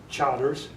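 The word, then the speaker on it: Chartres: But I didn't know it was Burgundy and Charters.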